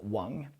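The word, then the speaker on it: 王: Now you've definitely met someone called Wong. You might not thought about it because their names might have been Wong instead. That is if they're from the south, say Hong Kong or just Canton in general. If they're Cantonese simply, then it would be Wong.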